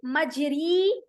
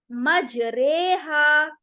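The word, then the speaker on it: مجراها: ठीक है जैसे देखि मजरी नहीं कहेंगे मजरेहा इसको प्रोनाउंस कैसे करेंगे और एक ही वर्ड है डोंट गेट कन्फ्यूज कुरान में एक ही वर्ड है यह इसे हमें इस तरह से करना है मजरेहा मजहा नहीं करेंगे मजरेहा तो ये एक ही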